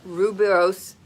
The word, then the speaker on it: rooibos: which is red, and I never pronounce it right, red rooibos tea. I think it's rooibos. It's Rooibos. Red rooibos is a natural way to get electrolytes using tea.